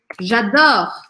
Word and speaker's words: j'adore: perceba também é que esta letra E, apesar dela ser a terminação e tal, ela não é pronunciada em francês, porque quando uma palavra termina com E em francês, mas não tem acento, não tem nada depois desse E, eu não falo esse E.